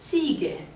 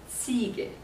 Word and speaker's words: Ziege: Remember, the Z is pronounced like TS. Here we pronounce it like English, the second letter. So it is Ziege, the goat, Ziege.